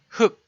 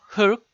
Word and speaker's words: 흙: And in the syllable 흑, the sound is same as 흑. One of the final consonant 리을 is no sound.